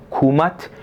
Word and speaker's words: Kemet: Kemet, ou na pronúncia reconstruída do egípcio antigo, Kumat, era o nome dado pelos próprios egípcios à sua terra.